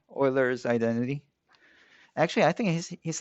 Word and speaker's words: Euler: try try to respect them the german name euler's identity actually i think he's not german but